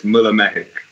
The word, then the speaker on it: Mulamehic: It's not as hard as it looks on paper. It's Mulamehic. Right.